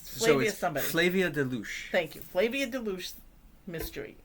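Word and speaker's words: Flavia de Luce: And the first book is it's a mystery series that I can't pronounce. Flavia somebody. Flavia Deluche.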